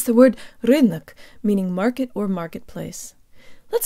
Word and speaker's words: рынок: to pronounce the word rhythmic meaning market or marketplace let's start with the second syllable the Oh sounds like a schwa and we need to